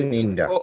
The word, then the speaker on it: Wochenende: Wochenende.